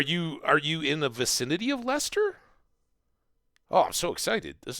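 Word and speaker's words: Leicester: people in the United States would stumble at pronouncing Lester it's uh it's not natural but lra is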